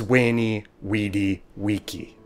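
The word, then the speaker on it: veni, vidi, vici: wink at a and why Caesars phrase was wainy wedi vici now before you go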